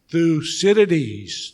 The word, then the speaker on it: Thucydides: unison so you know how to say this through cities trap so one more time through cities trap